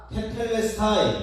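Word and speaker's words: τετέλεσται: 다 이루었다 다 이루었다 테텔레스타이 테텔레스타이 넥타이가 아니라 테텔레스타이 텔레 스타일 발음이 안 되네 테틀리 스타일이 아니야 테텔레스타이 텔 레스타인 스타인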